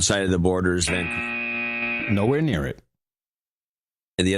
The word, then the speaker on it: Vancouver: Vancouver, Washington, so it's pronounced differently. It's Vancouver, Washington, and Vancouver, Canada.